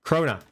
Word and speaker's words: krona: Krona.